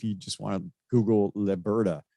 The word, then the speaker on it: Leberta: And if you just want to Google Leberta, it's L-E, by the way, not le.